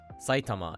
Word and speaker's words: Saitama: Saitama is pronounced atamadaka in isolation, but it becomes Saitamaken and Saitamashi when the classifier is added.